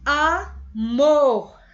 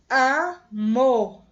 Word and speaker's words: amor: Amor. Amor. Amor, bem grande, né, gente? Então, é bem mais forte. Então, ela é aguda, porque a mais forte é a última sílaba.